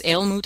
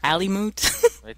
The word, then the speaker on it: Aelmut: I'm not sure if it's Aelmut or Alimut. It's Aelmut. It's probably Aelmut.